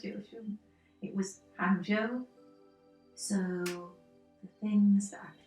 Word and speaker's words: Hangzhou: Yes, I'm trying to get the correct pronunciation. It was... Hangzhou. I nearly said Jiushun. It was Hangzhou.